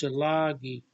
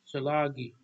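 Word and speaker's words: Tsalagi: And Cherokee is Shalagi. That's how you say it, Shalagi.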